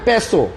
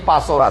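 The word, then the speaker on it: Passo: হোক আমি আমি আচ্ছা আমরা অনেক অনেক অনেক উচ্চারণে ভুল করি যে যেখান থেকে আসলে এই কথায় আসি যেমন এটা আসলে প্যাসো হ্যাঁ আমরা বলতেছি পাসো টাকসন গাড়িরে দেখেন কেউ বলে টুসান কেউ বলে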